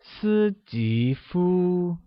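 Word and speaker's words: 史蒂夫: translates as city foo Susie foo is said with a high level tone on the first I a rising tone on the second eye and the high level tone on you can you try that it's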